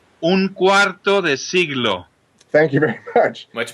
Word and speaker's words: Cuarto de Siglo: How do you pronounce that record correctly? Cuarto De Siglo.